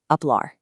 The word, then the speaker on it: hablar: Remember that silent H rule we talked about earlier? Apply it right here to express your thoughts. To speak, or to talk, hablar.